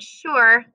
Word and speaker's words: sure: sh it absolutely does sound like an sh so that's what makes the word sure a tricky word there is no sh in the word there's no digraph sh in the word so sure spell it with me is s u r e sure our next trick word